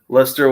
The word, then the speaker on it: Leicester: okay because it looks like Leicester yeah I pronounce it like Chester that's oh that's what I've said it but it's luster yeah Lester won the Premiere out of nowhere a few